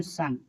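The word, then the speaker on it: son: लिखिए देखिए एस ओ एन सन सन क्या है? ओ के बाद एन है इसलिए इसे सन पढ़ेंगे।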